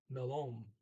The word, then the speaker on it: melon: You got to put the accent on the second syllable, melon. There's two L's in there, as of almost, like there's no exception. You see two L's or two of anything, you only pronounce one of them. But being a double often means that you have to say the preceding vowel short. So it's melon.